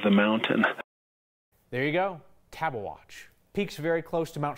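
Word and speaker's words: Tabeguache: Tabawatch, like wristwatch. We do know that some folks pronounce that Tabawash with a SH sound at the end, but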